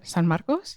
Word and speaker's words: San Marcos: immediately moved back in say San Marcos again s San maros I love that I've never heard it pronounced like that so it's such a